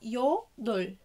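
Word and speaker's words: 여덟: الباتيم بينطق كأنه دا، وحرف الرا مع البا لو جم الاتنين في الباتيم بننطق حرف الرا بس، وحرف الراء لما بيجي يعني نهاية مقطع بيبقى كأنه لام، فبنقولها يو دول يو دول يو دول.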